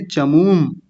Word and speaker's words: चमूम्: हलंत का मतलब वहीं रुक जाना होता है, अ नहीं खींचना होता।